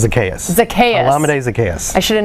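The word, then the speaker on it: Zaccheaus: because i want to see if you can pronounce the first guy there olamide and the last name you'd think it's zacchaeus but that makes me think that's close it's a laminate zacchaeus it's a chaos a chaos i should have known that whatever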